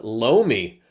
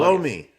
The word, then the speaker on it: loamy: Loamy. Hey, oh, come on. What is the word? Loamy, L-O-A-M-Y. Oh, see, I would have pronounced that loam. Loam. With like a silent E.